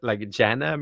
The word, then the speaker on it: jhana: I do what's called the jhana meditation, which is very wonderful. Have you heard of No, spell it for me, please.